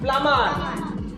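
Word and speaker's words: plumber: করিবো নোবা পি এল ইউ এম ই আর প্লামার ঠিক তাইলে কয় টি ও এম বি টোম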